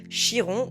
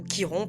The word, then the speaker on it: Chiron: En astrologie, il existe un point hyper intéressant, un astéroïde qu'on appelle Chiron ou Kiron, peu importe comment vous le prononcez, le Sentor guérisseur.